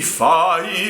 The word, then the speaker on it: fai: In measure 7, you have a slur for a syllable that has 2 vowel sounds. There are 2 notes for fai. Sing the ah sound on the first note and the e sound on the second note.